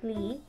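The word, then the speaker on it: 梨: You can never give Chinese a pear as a gift because the Chinese pronunciation of pear, li, is the same pronunciation as to be apart from someone and to never see each other anymore.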